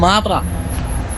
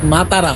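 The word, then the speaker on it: Matara: নাম হচ্ছে গুগল লিখতে মাতারা তো আমি তো বলছি মাতারা মাতারা এই লোক বুঝতেছে না বলছে মাতারা নট মাতারা মাতারা এইটা মূলত একটা ধর্মীয়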